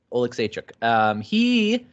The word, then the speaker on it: Oleksiejczuk: That's how you pronounce it. I couldn't pronounce it beforehand because I never heard it out loud, but Oleksiejczuk.